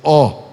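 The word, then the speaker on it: awe: em cada alma havia O, A-W-E, é uma interjeição inglesa, O, pronuncia-se O.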